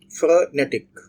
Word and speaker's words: frenetic: So this is not frenetic, frenetic. So the stress is on the second syllable.